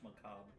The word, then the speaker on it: macabre: magazine called Damien's products the refined marriage between macabre and chic. For those 3 weeks, the monster prom seemed larger than life, and then it was gone, just like that. What? It's pronounced macabre. Oh, macabre?